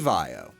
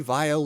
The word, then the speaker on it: Vaio: Teyu Goto, also wanted the pronunciation of the acronym to sound like bio to symbolize life. It is also very similar to violet, which accounts for why a number of the early Vaio laptops came in purple colors.